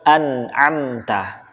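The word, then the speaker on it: أنعمت: Huruf nun sukun ketemu dengan huruf ain, kita tahu bersama ini namanya adalah idhar. Namanya adalah idhar halqi. Ya, dia dibaca dengan jelas karena bertemu dengan huruf-huruf halqi atau huruf-huruf yang berasal dari tenggorokan ain. Maka nunnya harus dibaca jelas.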